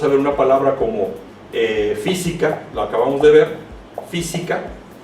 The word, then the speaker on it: física: Otro ejemplo sería la palabra física. No podemos decir física ni física. Decimos física. El sonido fonético está en la antepenúltima sílaba.